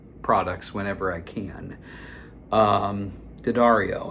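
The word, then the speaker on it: D'Addario: Um, Dario, and that's how you say it. Um, once again, I have said it all other ways in the past and I have been shamed into oblivion and said it's not Dario, it's not Dario, it's Dario.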